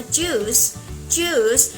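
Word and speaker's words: juice: ให้ ออก เสียง ว่า จส ไม่ มี จุ้ย อีก ต่อ ไป แล้ว นะ คะ ไม่ ใช่ จุส อะไร อย่าง งี้ ไม่ ใช่ เลย เป็น จูส จูส ออก เสียง สระอู ยาว ๆ ไป เลย นะ ที เนี้ย ค่ะ ตรง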